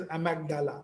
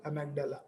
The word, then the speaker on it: amygdala: You can pronounce it as amygdala, amygdala.